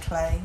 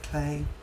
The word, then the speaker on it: Klee: a Google of Paul Klee. It's spelled K-L-E-E. Some say Klee, some say Clay, potato, potato.